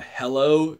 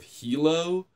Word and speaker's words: helo: Like at one point somebody says, jump in the hello instead of helo.